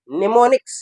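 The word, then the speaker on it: mnemonics: दूसरा जो है निमोनिक्स, यम क्या है साइलेंट, निमोनिक्स अंग्रेजी लफ्ज़ क्या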